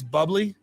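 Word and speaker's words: Bubly: It's called It's Bubbly, but it's spelled like bubé.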